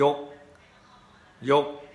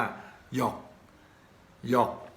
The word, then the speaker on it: ยก: เป็น อย่าง นี้ ครับ ยอ ยักษ์ สระ โอะ กอ ไก่ สะกด ก็ อ่าน ว่า ยก ยก แต่ ชาว ปักษ์ ใต้ ก็ จะ ออก กำ เสียง ตำหนิ ว่า หยอก หยอก คำ ว่า หยอก หยอก